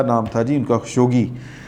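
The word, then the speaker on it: خاشقجي: تھا جی ان کا، خشوگی، جمال خشوگی، اس طرح کر کے تلفظ ہے ان کا، عربی میری اچھی نہیں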